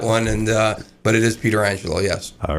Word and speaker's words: Pietrangelo: Yeah, we pronounce it Pieterangelo. Alex is my cousin Joe's son, so he's a second cousin of mine. He goes by Pietrangelo, but I told him he has to go